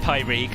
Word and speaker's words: Pyreegue: is pyregon how do you pronounce it you pronounce it pi reg i have i did check this before i